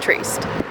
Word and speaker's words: Trieste: I also did learn how to pronounce it. That's how you say it, Trieste.